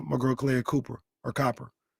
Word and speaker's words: Copper: Cuz I used to always say Cooper and that's not her name. Copper.